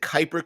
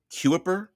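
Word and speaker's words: Kuiper: someone's last name but it looks like it would be pronounced cuiper but I pronounce it Kyper uh because I've heard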